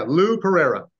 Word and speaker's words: Lou Pereyra: pronouncing your name right. Is it Lou Pereyra? Yeah, Lou Pereyra.